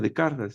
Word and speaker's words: Descartes: René Descartes se pronuncia en francés y que dice cómo estas pasiones van a anular el juicio.